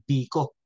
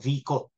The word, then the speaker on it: Vico: nubla apilido Okay so ang pronunciation naito ay bco o vico minsan nga kaya nga